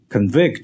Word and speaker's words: convict: 会做出有罪的判决。Convict 就是动词，判决某